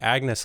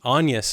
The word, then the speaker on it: Agnes: reading the book and Anus is how it's pronounced in pronounced in the movie at least. Yeah, in the movie. Yeah. Which I think is like the correct pronunciation per the time period.